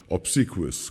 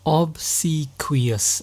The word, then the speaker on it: obsequious: they are being hypocritical they are a hypocrite obsequious obsequious now this is a very very advanced level